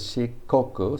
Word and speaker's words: Shikoku: chu goku this is shikoku so after the e sound the k remains a hard k but after the u sound it becomes a soft g because she is shikoku shi goku chi i guess